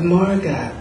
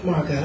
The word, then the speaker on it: Margot: And this would really piss Margot off. "My name is Margot." "No, no, no, no, no. The T is silent."